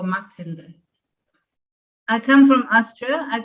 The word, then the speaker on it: Mathilde: Uh my name is a German name. I'm originally from Austria. So you would pronounce me Tilda or Matilda.